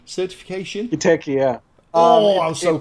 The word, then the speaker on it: Giteki: You're probably going to pronounce this better than I. Giteki certification? Giteki, yeah.